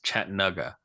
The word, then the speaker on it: Chattanooga: And he said the proper proper way to pronounce Chattanooga is Chattanooga is uh how he says people from Chattanooga say the name the city name.